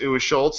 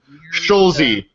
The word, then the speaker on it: Scholesy: I just thought it was Schultz, and I mispronounced it for a couple of weeks. I apologize about that, but it's Scholesy.